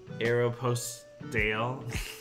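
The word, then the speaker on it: Aéropostale: I pronounce it like the correct French pronunciation.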